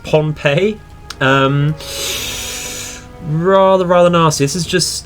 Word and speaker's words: Pohnpei: We've sighted quite the large invasion task force towards, I believe it's pronounced Pohnpei.